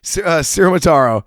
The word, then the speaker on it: Ciaramitaro: Pronounce it for me. Ciaramitaro.